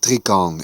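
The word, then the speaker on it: tricorne: mark of disgrace tricorn hats pronounced Trion in French worn by Lords of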